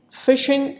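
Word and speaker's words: phishing: examples for fishing why is it called fishing fishing is pronounced just like fishing but instead of F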